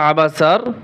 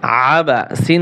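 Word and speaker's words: عَبَسَ: আ বা জবর বা আবা সিন জবর সাবাসা এইখানে কিন্তু অনেকে পড়ে আবাসা আইন গলার ভিতরে চাপিয়ে বলতে হবে আবাসা আবাসা واؤ জবর ওয়া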